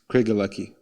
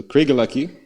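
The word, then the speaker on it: Craigellachie: of a kind 13 year old single malt craig lucky i had to youtube how to pronounce that by the way just in case i decide to cover it on the episode so craig lucky they use worm tubs as a way of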